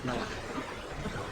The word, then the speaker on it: Melech: Melech. Melech. Melech. Like you're hawking a loogie, yeah.